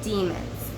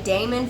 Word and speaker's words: daemon: call Damon's instead of demons and we've talked about the difference between the two and some people will say will pronounce both of those terms as just demon but I prefer to say daemon for one just because